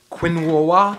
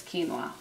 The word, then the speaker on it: quinoa: about 15 minutes now is quinoa ever pronounced Quinn Wawa no it's quinoa oh I think people